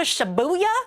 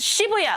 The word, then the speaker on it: Shibuya: You know like let's go to Shabuya. It's Shibuya. Like it's not hard. It's it's it's literally like there's no R or L consonant likeuh syllable in that word. There's no reason why you can't say shibuya. Like you don't have to say shibuya. Okay, just say shuya.